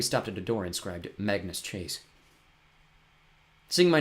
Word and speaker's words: Magnus: People tend to spell it mangus. It rhymes with Angus. I was correct them. No, it's Magnus rhymes with swagness.